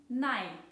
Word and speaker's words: nei: Wie ihr vielleicht gemerkt habt, wird das Oi in 9 zu einem Ei in Nein.